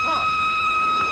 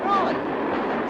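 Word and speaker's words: Froy: My name's Troy. You said Troy? No, oh, not Rudy. Troy. Sorry, I can't hear. It rhymes with joy.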